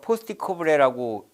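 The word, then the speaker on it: POSDCoRB: 것 같습니다 그 다음에 사회복지행정의 과정과 주요 가업 포스트 코브레라고 읽는데 기획 조직 인사 지시 조정 보고 재정이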